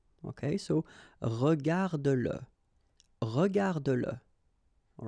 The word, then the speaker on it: regarde-le: Remember that if you've got, in some situations, the pronoun le, and if it comes after your verb, like in that case, then you will have to pronounce it. Okay, so regarde-le, regarde-le.